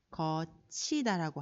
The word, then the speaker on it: 겉히다: 겉히다 같은 경우에는 우리가 발음을 거치다라고 하죠. 구름이 거치고 해가 났다 할 때 구름이 거치다 이렇게 발음을 합니다.